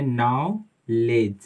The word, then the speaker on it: knowledge: ठीक है, GE बहुत अच्छा एग्जाम्पल है इसका, KNOWLEDGE, इसको हम पढ़ते हैं नाउलेज, नाउलेज, यहाँ पे D साइलेंट है और यहाँ पे K साइलेंट लेटर है ना, तो हम पढ़ते हैं नाउलेज, नॉलेज का मतलब ज्ञान, है ना।